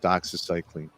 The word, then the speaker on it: doxycycline: So the antibiotic you're trying to pronounce is called doxycycline.